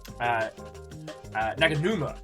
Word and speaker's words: Naganuma: Naganuma, thank you. Hideki Naganuma. I'll probably mispronounce it 3 times.